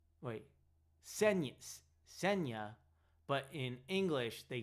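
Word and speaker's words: Ksenia: Apparently it's a Russian name and in Russia it's said as Senia. Wait, Sena, but in English they say it as Cassenia.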